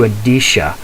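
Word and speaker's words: Endicia: told him i want to connect it to adisha which is spelled e n d i c i a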